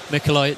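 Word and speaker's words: Mikołaj: Oh, and he told me how to pronounce his name. Did he? How was that? Mikolai Duzki.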